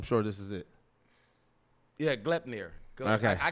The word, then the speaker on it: Gleipnir: this city, I do not know how to pronounce this, but I'm sure this is it. Yeah, Gleipnir. Okay, I call it Gleipnir.